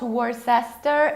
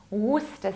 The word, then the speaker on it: Worcester: It's not Worcester, it's not Worcester, even though many of English native speakers, or rather I should say American native speakers, pronounce it this way. There is even such famous sauce, which some people call Worcester sauce. No, it's Worcester sauce, Worcester, Worcester. We don't pronounce middle CE, and as a result we say Worcester, Worcestershire.